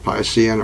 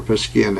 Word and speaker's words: Piscean: of what we call the Piscean or per skin ages depending on how you pronounce it if the time in